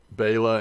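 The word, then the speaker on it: белая: think he was saying the emphasis is on the be and not the bay light i i don't know i don't know what he's saying okay bayla in russian is white it's pronounced a little different okay interesting you say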